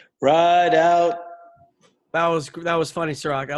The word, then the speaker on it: Rideout: Is that the way you pronounce your last name, Rideout? Yep, just like it's spelled. Rideout.